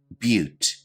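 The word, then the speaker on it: butte: our next term is pronounced a little bit differently than you might imagine but repeat after me but a but is a unique landform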